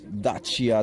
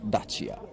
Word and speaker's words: Dacia: Right, I am with someone from Romania who will now tell us how you correctly pronounce Dacia. It's Dacia Duster. Dacia.